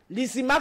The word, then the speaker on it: Lysimaque: Lysimaque s'écrit L-Y-S-I-M-A-K-E.